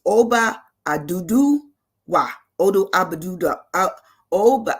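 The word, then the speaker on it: Oduduwa: It's Oba Adudu Wa. Odu Abaduda. Oba. I'm gonna say his name right. Oba Aduduwa. There you go.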